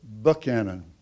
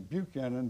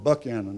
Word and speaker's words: Buchanan: Professor Buchanan. The reason I pronounce the name that way, everybody calls him Buchanan, but he's from Georgia, and they call it Buchanan over there.